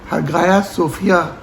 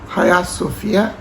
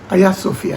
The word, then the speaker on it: Hagia Sophia: نام ہے آیا صوفیہ۔ اس کو انگلش سپیلنگ کے حساب سے ہگایا صوفیہ بھی پڑھا جاتا ہے، لیکن درست گریک پروننسیشن ہایا صوفیہ، یا اس کا ٹرکش متبادل آیا صوفیہ ہے۔ ہگایا یا ہایا کا